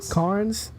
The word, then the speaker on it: Cairns: Carnes.